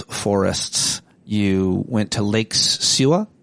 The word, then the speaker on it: Suwa: You went to Lake Suwa. How do you pronounce it? Yes, Lake Suwa.